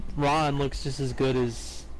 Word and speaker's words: Ran: pronounced Ron?